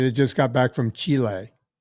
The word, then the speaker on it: Chile: way you say it c i l e Chile or Chile if you're speaking Spanish yeah yeah Chile or